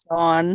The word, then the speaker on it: Dawn: Because I don't know, they don't know how to talk here. Because my name No, is I Dawn. pronounce it Dawn. Not Yeah. fucking Don like Donald Duck.